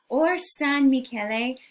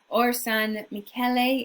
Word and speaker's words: Orsanmichele: Or San Michele, you might see it spelled all one word. You might see it spelled three words, Or San Michele. Or San Michele is the Italian pronunciation.